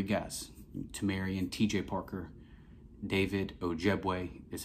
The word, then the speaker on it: Ojiegbe: We signed three guys, Tomarrion, TJ Parker, David Ojiegbe is how you pronounce his last name, and then AJ Hoffler.